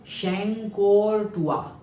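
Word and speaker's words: Chancourtois: जिसको बोला जाता है, कैन नहीं बोला जाता, कभी कभी हम कैन भी बोलते हैं, बट उसको कैन नहीं बोला जाता, शैंकोरटुआ ऐसे बोला जाता है।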